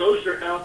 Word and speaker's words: Osterhout: I'd like to welcome our guest, Osterhout. I said your last name right, correct? That's pretty close, Osterhout. That's good.